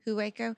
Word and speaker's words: Hueco: may 14th and 15th i'm going to say you got it right because it's waco texas and waco hueco but there's a lot